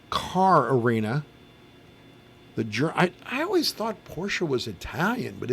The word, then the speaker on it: Porsche: Now, is it Porsche or Porsche? Yes. I always say Porsche, but I've heard countless people say Porsche. I've always said it What was was it one Janis syllable. Joplin called it? Porsche. So there's 3 ways to pronounce it.